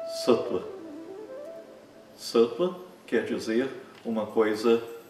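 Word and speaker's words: सत्त्व: Sattva. Não é Sattva, como muitas pessoas acham que deve ser pronunciado, porque tem uma consoante antes dessa semivogal.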